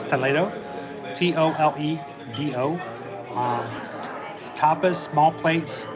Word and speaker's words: Toledo: in your magic toledo it's spelled the same way as toledo but it's toledo t-o-l-e-d-o um tapas small